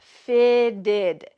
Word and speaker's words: fitted: Note that the pronunciation of this fitted, those T's are going to sound like D's in American English because they're surrounded by vowels. Fitted, not fitted.